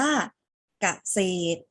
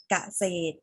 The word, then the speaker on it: เกษตร: สัตว์ ด้วย นะ คะ คำ นี้ อ่าน ออก เสียง ว่า เกษตร เกษตร เกษตร มี ตัว อะไร อยู่ ท้าย คำ คะ หลัง ตัว สะกด ตัว รอ เรือ ใช่ ไหม คะ มี ตัว ร เรือ อยู่ หลัง ตัว สะกด แต่ เรา ไม่ ออก เสียง รอ เรือ เรา ออก เสียง เพียง แค่ ตัว ต่อ เต่า อ่าน ออก เสียง ว่า